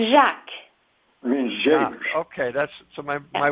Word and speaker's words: Jacques: It's Jacques. It means James. Okay, my wife was sure about that. So it's pronounced Jacques.